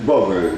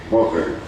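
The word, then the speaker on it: Vogl: Lleva el sugerente título de El espectro del capital, del filósofo alemán Joseph Vogel, no sé cómo se pronuncia, B-O-G-L, Vogel. Vogel. Vogel, no tiene ella, claro, pero no importa, Vogel, qué sé yo.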